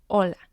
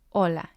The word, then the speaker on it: hola: we have the word hola hola it means hello and it has two syllables la is the first syllable o is the second syllable remember that the h in spanish is silent we have messes and